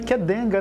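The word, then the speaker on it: Qdenga: boa tarde primeiro é Curioso o nome né Kid denga é o nome brincadeir então que pronunci queed denga né quaa uma empresa japonesa né taeda foi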